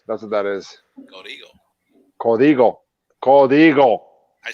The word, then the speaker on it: Código: Código.